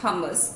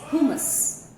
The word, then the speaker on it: hummus: It is not hummus as it is generally pronounced, which is a mispronunciation. The right pronunciation is hummus.